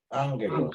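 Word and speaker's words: ἄγγελος: Cuando aparece 2 gamma junto, el primer gamma pronuncia como si fuera una ni. N sería. N. Entonces, si es así, ¿cómo leería ahora? Ángelos.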